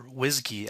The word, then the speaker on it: WSGI: the wsgi GUI file or whiskey as it's pronounced in the Python world is just a boilerplate